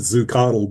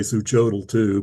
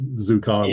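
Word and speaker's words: Xuchotl: I I pronounce it zucodle, but I think some people may say zoo cho too, but it's zucodle.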